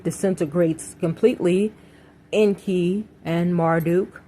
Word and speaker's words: Marduk: completely in key and Marduk or Marduk as some people pronounce it and the archons do